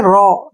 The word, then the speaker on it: raw: RAW, यहाँ पे AW फिर से इकट्ठा है, इसको पढ़ेंगे रॉ, ठीक है ना।